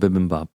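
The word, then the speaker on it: bibimbap: eat B poop every day actually it's called bibin Bop yeah so the bibim Bop was good um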